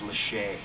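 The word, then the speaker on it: Lachey: Nicolas is 39 yeah I always thought he pronounced his last name Lackey but apparently it's Le yeah Nick Le from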